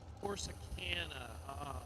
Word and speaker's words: Corsicana: Is it pronounced Corsicana, Texas? Corsicana.